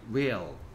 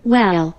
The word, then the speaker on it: will: will. 발음이 이상하게 되는데, Well. well이 아니고 will이라고 발음하면 돼요.